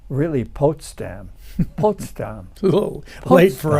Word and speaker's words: Potsdam: told that it's really potam po a little late for us to try to change that I was told you anyway so it's probably the way the Germans pronounce it yeah so they went